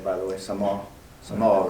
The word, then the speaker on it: Samoa: you say it by the way some off some all right Ronny yeah and actually you know a